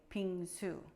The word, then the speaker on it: 빙수: subscribing before we begin I want to phonetically teach you how to say ping zu which is Korean shaved ice dessert now if you have trouble pronouncing ping soo please call me okay